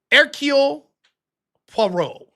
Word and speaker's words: Hercule Poirot: Hercule Poirot.